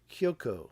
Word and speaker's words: Kyoko: Is it Kyoko or Kyoto? Kyoko. I said it right.